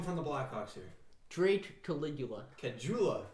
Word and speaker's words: Caligula: I will find somebody saying Cajula. It's Caligula.